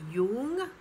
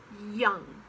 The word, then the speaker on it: young: it's what then young it looks like it could be jung but it's young and love sometimes pronounced